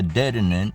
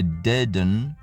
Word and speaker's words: Dedenne: I've actually never seen before it's called a deaden deaden dun but he looks more like a